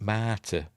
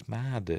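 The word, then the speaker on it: Mardah: Yes, Jake's in love with a Darbo girl called Marder, but for some reason they pronounce it Marta, but it's Marder. It's got a D in it.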